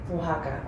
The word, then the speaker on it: Oaxaca: stuff the authentic Mezcal is made in Oaxaca Oaxaca okay that's how you say it yeah sorry